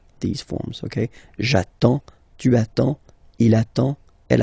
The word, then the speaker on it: attends: You get D and S. Well, basically you don't pronounce them. Okay? And then you get only the sound attends. Nasal here. En. J'attends.